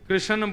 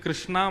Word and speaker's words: कृष्ण: लाल की जय बंधुओ कई लोग इस नाम को अशुद्ध बोलते हैं कई लोग कृष्ण बोलते हैं कई लोग कृष्ण बोलते हैं कोई कृष्णा बोलता है भगवान का नाम शुद्ध उच्चारण करो नाम क्या है कृष्ण भगवान जय श्री कृष्ण कृष्ण